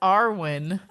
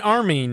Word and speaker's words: Armin: Erwin and You mean Armin. Yeah, Armin? it's a little tough. Yeah. So You mean Erwin Armin? has Arwen. I don't know. This is how I say their names, okay? You mean Armin, right?